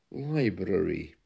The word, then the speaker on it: library: do say that but the correct pronunciation is with a slight R Library there we are now